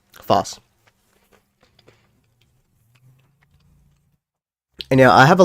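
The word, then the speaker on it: Phos: three I made the short uh about me mispronouncing Foss I almost said foes Foss and yeah I have a lot of psyche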